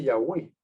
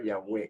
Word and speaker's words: Yahweh: Jehová tampoco dice yagüey Pero sabemos que se pronunciaba yagüe el nombre sagrado ya en otro tema El que me está escuchando y quiere documentación se la podemos enviar documentación rotunda y enfática y Clara histórica etcétera de que la el nombre se pronunciaba Yahweh y noche me enseñaron